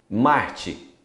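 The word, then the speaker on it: Mars: Marte, mar. Você não pronuncia o S.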